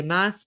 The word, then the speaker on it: Maas: Moss comes a Did I say that? Yeah, I said it right.